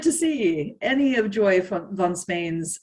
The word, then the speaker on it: von Spain: see any of Joy von Spain's, I always say von Spain because that's the German way of pronouncing it's a soft F V.